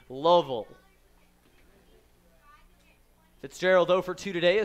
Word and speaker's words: Louisville: with the pickoff attempt Louisville I went with the native pronoun to syllable Louisville Fitzgerald over to today